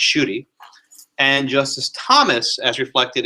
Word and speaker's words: Schuette: Sotomayor, as reflected in her Schuette dissent, is pronounced Schuette, and Justice Thomas, as reflected in his Grutter and Fisher 1 dissent.